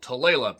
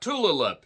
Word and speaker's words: Tulalip: I'm in western Washington in a little suburb of Marysville called Tulalip, not Tulalip. Pronounce the shit right, even if you're not from Washington.